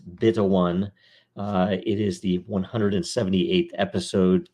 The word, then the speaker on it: 0xb1: This is episode 0xb1, pronounced beta 1.